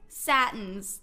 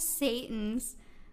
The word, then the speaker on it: Satins: Satins. That's how you say it, not Satans.